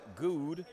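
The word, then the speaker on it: Goode: So Clifton Good, I believe, is how it's pronounced. Now it's spelled G-O-O-D-E, which of course you can't not take into account the E at the end.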